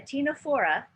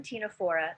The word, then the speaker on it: Ctenophora: So what about Ctenophora? The C here doesn't pronounce, it's silent. So a Ctenophora, one Ctenophora, many Ctenophores, I believe.